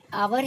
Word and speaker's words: hour: अब आवर है, यहाँ पर एच है, ठीक, लेकिन एच यहाँ पर साइलेंट है, तो हमारा जो साउंड है वो वॉवेल साउंड है, ओ का आ रहा है यहाँ पर, तो इसलिए हम लोग यहाँ पर एन लगाएंगे, एन आवर।